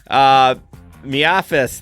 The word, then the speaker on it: MIAFS: Miafis, that's the name we made it. We made it called it's Miafis, but that's just the gig economy pronunciation.